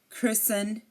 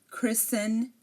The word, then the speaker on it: Christen: n um for example Christen fasten listen again Christen fasten listen these are you do not hear the T the t is silent here and if a